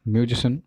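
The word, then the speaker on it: musician: मैं उसको आज ऐड नहीं कर रहा हूँ, ठीक है, पर इस हिसाब से समझ लेना, दैट्स इलेक्ट्रिशियन, म्यूजिशियन, फिजिशियन, ऐसे हैं सब। सियन, सियन कहीं पे नहीं है, ठीक है, उसको चेंज करो।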